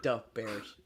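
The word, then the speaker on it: Da Bears: You have to say it like Dub Bears.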